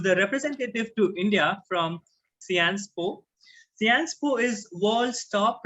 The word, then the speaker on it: Sciences Po: So it's Sciences Po and not Sciences Po.